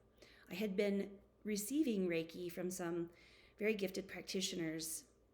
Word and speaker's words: Reiki: practice of Reiki you may have heard of Reiki before it's spelled r-e-i-k-i Reiki is basically uh sort of